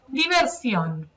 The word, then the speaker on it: Diversión: Diversión. Okay, and when you look at the word, you may be tempted to pronounce it diversion, but that is in fact something completely different.